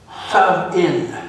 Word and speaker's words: Samhain: It was called Samhain, S-O-W-E-N is how it's pronounced.